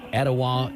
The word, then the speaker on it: Etowah: I'm Dwayne from Cleveland, Tennessee, and it's pronounced Ocoee, Etowah, and Hiwassee.